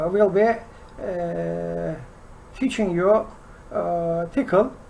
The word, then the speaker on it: Tcl: this time i will be teaching you uh tickle it's pronunciated as ethical tcl or other saying is